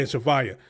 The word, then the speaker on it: Javaya: I Ooh, was pronouncing it the way it looked like it was spelled. You butchered that joint. Oh my goodness. You getting that up. Okay. But yeah, Javaya.